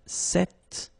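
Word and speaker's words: cet: So it's quite interesting because if you listen carefully the masculine form here set and the feminine form here set you write them differently but then you pronounce them the same way.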